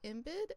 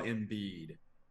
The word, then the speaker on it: Embiid: up um with Joel imid and Carl Anthony towns they combined did I say his last name wrong Joel embiid which is not an easy say yes okay excuse me